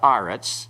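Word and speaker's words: ארץ: a comments also okay so Eric's changed to aretz therefore the article has to have the comet Center follows the same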